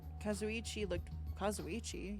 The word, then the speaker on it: Kazuichi: When we mentioned Nagito at the restaurant, Kazuichi, yeah, that's how you say it, looked pretty unsettled about something.